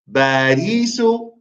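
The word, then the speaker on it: باريس: Barry is wrong, Brother Mujahid. Try again. Remember, there's no P's in the Arabic language.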